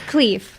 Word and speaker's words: Khleif: It's Khleif. Khleif.